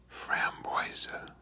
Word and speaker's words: framboise: same it appears but raspberry is pronounced froa so how about we start with the Fran boisa and um speaking of